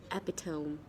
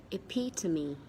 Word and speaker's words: epitome: is normally mispronounced like epitome that is not epitome it has four syllables so it is P to me it P to me the stress is on